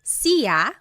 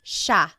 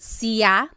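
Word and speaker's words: siya: It looks like it should be pronounced sa, but it's actually pronounced sha sha. There are some regions in the Philippines that might pronounce it sia but for the most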